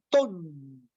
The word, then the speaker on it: TON: Cuando el aire está ingresando, nosotros pronunciamos el mantra TON, T-O-N, T de Tao, O de orden, N de naturaleza, TON.